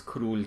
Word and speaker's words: król: O reflex in Polish, which gives us a modern U, which is written in Polish as an O with an accent mark over it, or kreska, król, króla.